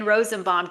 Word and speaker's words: Rosenbaum: I'm so excited to be talking with Rosenbomb today. Hi. Hi. And well done on the pronunciation of my name.